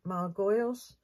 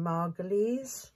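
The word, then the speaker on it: Margolyes: I love Miriam and I always thought it was Miriam Margo's but it's not it's Miriam margal this the way she pronounced it which probably everybody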